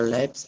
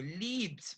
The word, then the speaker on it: lip: When you say the lip, you say perfectly. It sound really like uh native speaker. You cannot say the leaps because leap means to jump.